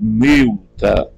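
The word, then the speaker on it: ܡܠܬܐ: pronúncia oriental meta melta se pronuncia com o e fechado Milta quase que chegando ao som de i me me miusa né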